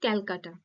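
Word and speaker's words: Calcutta: তো যাই হোক যে ক্যালকাটা বানানটা দেখো সি এল সি ইউ টি টি এ তো বাংলা বর্ণ আর ইংরেজি এই যে লেটার গুলো দেখো অন্যান্য রকম হয়ে যাচ্ছে এবং উচ্চারণটাও অন্যরকম হচ্ছে এটা কলকাতা আর এটা যদি উচ্চারণ করি কি হবে ক্যালকাটা তাইতো এর ফলে কি হচ্ছে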